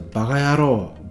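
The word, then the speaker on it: バカヤロー: If you listen carefully, you might hear bakayaro as being pronounced close to bagayaro, bagayaro, if people say it quickly.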